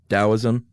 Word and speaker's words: Taoism: Tzu who founded is Do we say it with a D? Taoism? Yeah. Okay, that's what I thought. Even though it's spelled with a T.